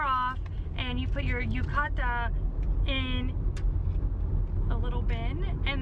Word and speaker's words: yukata: Yukata? I'm helping you learn how to say it right. Yukata.